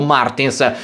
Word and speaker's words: Martins: tra cui anche victor martens o martins come dovrebbe essere pronunciato alla portoghese seconda posizione dietro caldwell